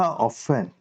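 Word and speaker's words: often: एक चीज नोटिस करो ओ एफ टी ई एन लिखा ऑफेन लेकिन अपन टी को साइलेंट पढ़ते हैं टी क्या है साइलेंट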